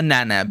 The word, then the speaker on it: Nanab: Berries are Nanab. very Yeah, sweet. it's called the nana fruit. Oh. Nana. Spell it.